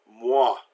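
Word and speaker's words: moi: doing it as ooh oh I always makes the wah sound there's a W sound there so mwah Miss Piggy's word for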